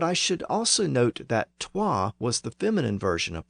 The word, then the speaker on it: twa: The next number in English is 2, derived from the Old English word toi, usually spelled T-W-A. So the W was actually pronounced in Old English, and that's why the